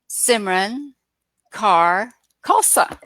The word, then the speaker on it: Simran Kaur Khalsa: go from there please my full name is Simran Kaur Khalsa it's a very long name but it's a